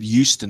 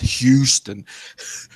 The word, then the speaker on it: Euston: ago John I said I said Euston not Huston pronounced but yes yeah the